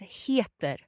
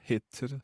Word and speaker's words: heter: Okay, so I can either say jag heter or jag heter. Perfect. So that heter word there, it kind of sounds like hate, which is probably not a very positive thing.